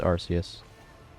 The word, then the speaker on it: Arceus: Also, it's Arceus. Even if I am dyslexic, it's Arceus to me. Not pronouncing the arc as arc. There's a C, there's an E next to it.